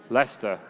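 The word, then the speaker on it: Leicester: to say it together okay 1 2 3 Lester fantastic very very good and I hope you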